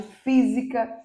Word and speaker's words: física: paroxítona e antepenúltima proparoxítona que é o caso de física química oxítona oxítona física química pássaro então observem pássaro é a antepenúltima sílaba tônica física é a antepenúltima